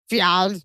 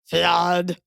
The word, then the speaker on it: ffiaidd: Fiad, which is disgusting in Welsh. It's spelled Fffiaidd, if that's even allowed. Fiad.